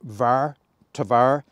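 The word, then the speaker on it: tvare: well all right pronunciation I'm not sh on VAR tavar t v a r or t v a r e it's a Norwegian whisk basically what it is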